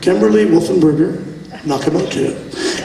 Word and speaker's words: Kimberly Wolfenberger Nakamoto: Ladies and gentlemen, this is my dear friend Kimberly Wolfenberger Nakamoto. Did I say it right? Say it again. Did I say it right? Good. Kimberly Wolfenberger Nakamoto.